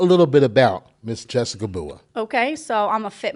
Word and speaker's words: Bua: so I am here with the beautiful Jessica bua hello hello hello all right did I pronounce that right cuz you know I just